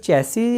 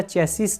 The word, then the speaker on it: chassis: revise कर दिया जाए बताना चाहूंगा कि जो जैसी है वैसी ही उच्चारण होगा इसका चेसिस नहीं होगा हम लिख भी कई